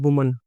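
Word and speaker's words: women: बेटा इसको बोलते हैं मैन। इसको बोलते हैं मेन है ना? इसको बोलते हैं वुमन।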